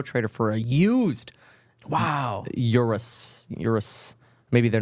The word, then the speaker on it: Urus: that Ur are us a lot of people say Urus but it's Urus oh I tried a